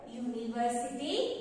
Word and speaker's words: university: are right a what even though the word university begins with the over letter u but in pronunciation begins with consonant sound university so put it to